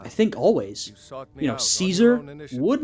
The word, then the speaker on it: Caesar: you know Caesar would not be Caesar it would be kaizar which is by the way similar to the German monarchical title Kaiser right sort of an interesting thing there but in English we pronounce it Caesar suitable for someone of